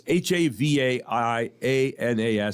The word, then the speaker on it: Havaianas: Just missing the top 5 is the flip-flop brand Havaianas. No. Havaianas. Don't know it. The H is silence. It's Havaianas, if anyone cares.